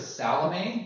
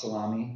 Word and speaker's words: Salome: Their mother is Salome. Do you recognize? Not to be pronounced salami, which we all did as kids because we thought it was funny.